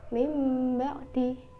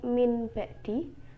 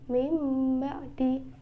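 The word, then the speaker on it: مِنْ بَعْدِ: dengan merapatkan kedua bibir contohnya mimba'di Bukan dibaca Min ba'di tapi mimba'di Hai contoh selanjutnya ialah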